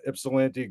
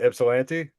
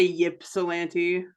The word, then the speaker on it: Ypsilanti: of the new book fresh off the presses ipsilanti ghosts and legends uh welcome to the show K gray you said it right what ipsilanti yeah oh I was like is it not